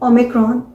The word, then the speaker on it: Omicron: OMICRON, और इसे हम प्रोनाउंस करते हैं ओमिक्रॉन।